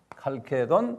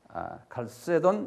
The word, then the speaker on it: 칼케돈: 칼케돈 또는 칼케톤, 칼세돈 여러 가지를 발음하는데요. 451년에 칼케톤에서 칼케톤도 여기 니키아 있는 요 동네 여기 다 요 동네가 칼케톤이에요.